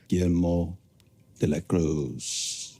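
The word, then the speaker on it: Guillermo de la Cruz: GMO deacros.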